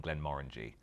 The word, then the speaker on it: Glenmorangie: Bill Lumsden always says actually that the orangey is morangy in Glenmorangie. The orangey is morangy in Glenmorangie. That's how he teaches people how to say it.